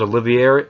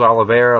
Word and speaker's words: Oliveira: card Cody we'll book will Brooks versus Charles olivieri how do you say his name ah will books will Brooks versus Charles Oliveira lightweight a lightweight belt O'Hara funny featherly and